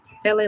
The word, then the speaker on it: Elay: My name is Elay. I don't like how this angle have me looking. My name is Elay, pronounced ooh, it's too dark. Girl. LA like the city.